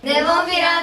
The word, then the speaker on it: Nemophila: I hope you enjoyed the show, and I got the pronunciation down now. I'm not gonna lose it. Nemophila, Nemophila, Nemophila, Nemophila, Nemophila, Nemophila, Nemophila, Nemophila.